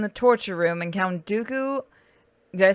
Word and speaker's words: Dooku: Lord Grievous is in the torture room, and Count Dooku, did I say it right?